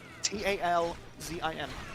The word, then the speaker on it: Talzin: T A L Z I N.